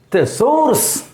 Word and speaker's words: thesaurus: See, thesaurus. Thesaurus. Second syllable is emphasized.